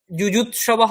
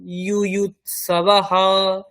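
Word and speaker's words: যুযুৎসবঃ: তারপরে সমবেতা, তারপরে এটা হচ্ছে ইউয়ুত সবাহা, ইউয়ুত খণ্ডের ত তন্তুস্ব, বাংলাতে যুযুৎসবাহ বলি, ওটা যুযুৎসবাহ হবে না, ইউয়ুৎসবাহ।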